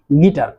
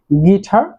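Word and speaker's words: guitar: ইংরেজিতে হচ্ছে গিটার এবং বাংলাতে গিটার, কারণ বাংলাতে ট এবং ঠ দুটি অক্ষর রয়েছে, অর্থাৎ ট সাউন্ড এবং ঠ সাউন্ড, বাট ইংরেজিতে কিন্তু তা না। ইংরেজিতে ট সাউন্ড বলতে কোনো সাউন্ড নাই, ইংরেজিতে ঠ, ঠ সাউন্ডটি শুধু রয়েছে। সো যেখানে আমরা টি লেটারটি দেখব সেখানে আমরা ঠ সাউন্ডটি উচ্চারণ করব।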